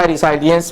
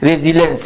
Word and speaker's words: resilience: रेसाइलेंट में बोल दिया था। रेसाइलेंस बोल दिया था। रेजिलेंस है इसको बोला पढ़ा जाता है।